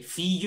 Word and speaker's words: fille: Okay, fille, remember, like charmille. Fille, mm-hmm. charmille. Okay, mm-hmm. the same sound.